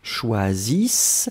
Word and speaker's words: choisissent: Remember, you write it, but you don't pronounce the E-N-T.